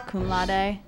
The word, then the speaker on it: cum laude: As summa cum laude, and then there was cum laude. That's how you pronounce it.